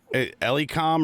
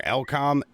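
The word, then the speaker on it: Elecom: i will endorse this it's called it uh eliecom or elcom it's it's spelled e-l-e-c-o-m i have a e-x-g model i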